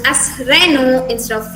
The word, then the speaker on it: Renault: this uh this car brand uh varian is reynold but here the last lt sound is silent and it's pronounced as renault instead of reynold this one this one in the english way